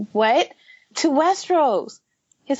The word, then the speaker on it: Westeros: No, we're going to, and he pronounces it Westeros, not Westeros.